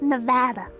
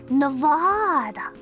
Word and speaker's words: Nevada: And it's pronounced Nevada, okay? Don't listen to nobody that's like, Nevada.